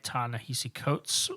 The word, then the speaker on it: Ta-Nehisi Coates: so before we get into black panther by tan nahisi coates uh which we did confirm that is how you pronounce their name um drew what you been